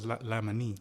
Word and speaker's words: Laimanee: All right, now I know we went through this before, but it's Laimanee. Yeah. Laimanee, okay. So Like, that's the Thai pronunciation, yeah.